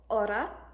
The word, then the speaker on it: hora: The English letter H is H in Spanish, and it is always silent. For example, hora, hombre, hotel.